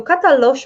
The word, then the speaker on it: Katalox: new project is called Katalox let me just go into opening the brochure hopefully you can see my screen so katalosh my friends it's spelled with the next at the end it is the name